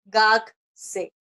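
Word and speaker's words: 学生: Gakse, ¿verdad? Porque hemos dicho que la uno siempre se pronuncia.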